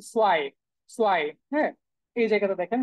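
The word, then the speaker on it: zwei: এখন দেখেন এই যে জেটের যে উচ্চারণ সেটা হয়ে গেছে সোয়াই, সোয়াই।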